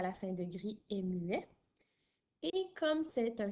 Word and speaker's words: grise: et ça va faire grise. Alors, grise s'écrit G-R-I-S-E. Alors, le S ici n'est plus muet. On l'entend, il fait le son Z puisqu'il est entre deux voyelles.